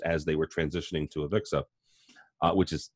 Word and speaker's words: AVIXA: that InfoComm announced as they were transitioning to AVIXA, which is how you say it, was that they were looking to, get more involved in the experience, right?